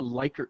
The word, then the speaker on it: Likert: it's actually called a likert scale question liquor actually was the name of the guy how he pronounced it but um these types